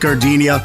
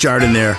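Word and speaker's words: jardinière: Hey guys, when you're at the counter, don't call it gardenia. It's pronounced Jardiniere.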